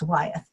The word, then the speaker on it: Wyeth: And he goes, that's a very common name on the East Coast, and it's pronounced Wyeth.